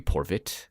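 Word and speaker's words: Porewit: to the Slavic god Porwit. Again, I may not be saying that right. It could be Porvit. The W can be pronounced in that sort of region as a V to English sometimes.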